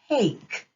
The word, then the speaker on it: take: word is take this has the magic II so it makes the a say its name hey let's sound this word out together a remember the e is silent here so the word is